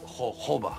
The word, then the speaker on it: jojoba: homo oil is key it spelled jojoba it pronounced jojoba but you know there are also other oils